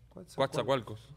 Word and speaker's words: Coatzacoalcos: ¿Cómo se pronuncia eso? Coatzacoalcos.